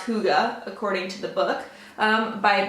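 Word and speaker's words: hygge: the little book of hike of birds actually pronounced Hooda according to the book by Mick Ricky I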